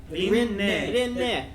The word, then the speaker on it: Rinne: Rinne in Japanese. In Okay. the anime, how But will you pronounce cockmongler?